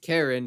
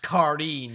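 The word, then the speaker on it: Karin: But it is funny how both Monogatari and Bleach have a character named Karen, who is the main character's little sister. It's pronounced Kareen, you filthy Kareen.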